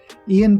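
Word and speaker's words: Iain: Ian Banks is a Scottish writer who is one of my favorite science fiction writers. I think you pronounce his name Ian. There's an extra I in there for some reason.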